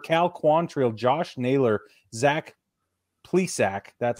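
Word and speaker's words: Zach Plesac: Rosario Shane Bieber Cal Quantrill Josh Naylor Zach please sack that's how you say his name Aaron savali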